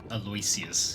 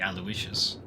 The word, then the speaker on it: Aloysius: Aloysius is what they kept saying, which is supposed to be Aloysius. People were pronouncing it the way it's spelt, which is fair, but that's not how you pronounce that name.